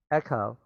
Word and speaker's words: Echo: Remember, this CH 要念成 K, huh? In this word, okay? Echo, to distract Hera.